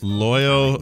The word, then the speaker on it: Loyo: Loyo rhymes with Froyo, and I like that.